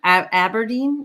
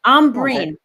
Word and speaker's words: Ambereen: I agree with I don't have Aberdeen. Am I saying it right? How do we say Ambereen? Ambereen.